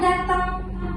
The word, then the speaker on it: datang: Datang ini seharusnya teman-teman diucapkan dengan huruf A, bukan huruf E.